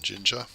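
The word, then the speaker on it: Jinja: Let me just find your stuff on Ginger. So Ginger, spelled like ninja.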